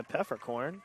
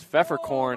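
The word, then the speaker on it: Pfeffercorn: silent P just like Pfeffer corn with a silent P and so the Warriors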